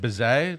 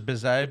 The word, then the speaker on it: Bizet: Bizet? Georges Bizet?